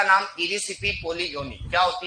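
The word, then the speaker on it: Erysiphe: इरिसाइपी नहीं कहते वैसे तो, इरिसिपी कहते हैं इसे। क्या कहते हैं? इरिसिपी। तो इरिसिपी पोलीगोनी क्या है बोलो? इरिसिपी पोलीगोनी। अभी इरिसाइपी लिखा हुआ है, इंग्लिश प्रोनाउंसिएशन का फर्क है, बाकी कुछ नहीं।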